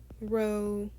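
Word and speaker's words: rho: is that l or in this case row pronounced row spell row r o based on what that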